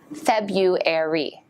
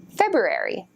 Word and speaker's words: February: do you pronounce it most native speakers say February Febuary but some say that you should pronounce the R like this February February even the dictionaries disagree about that one so English is